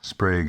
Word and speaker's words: Sprague: 50 volt sprog atoms sprague atoms rhymes with vague oil not because they're superior